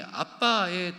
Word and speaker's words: 아빠: 예전에 개혁 한글 성경에는 아바라고 되어 있었는데요. 본래 원어 발음이 아빠에 더 가깝습니다. 우리 한국말 아빠와 동일한 발음이라고 봐도 어 무방합니다.